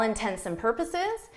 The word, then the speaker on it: intents and purposes: all intents and purposes, it sounds like intensive. Intensive is a word that people are very familiar with. Intense and is not something that people are familiar with, but the correct expression is intense and purposes.